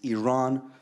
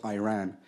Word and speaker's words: Iran: First of all, you say you support the Iranian people, but you're pronouncing our country's name wrong. Our country is named Iran, not Iran.